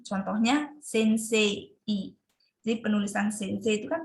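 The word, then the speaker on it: せんせい: Contohnya sensei. Jadi penulisan sensei itu kan sensei. Tapi ketika pengucapannya mungkin agak gimana ya, tidak terlalu jelas kedengaran i-nya karena sedikit disenyapkan seperti itu.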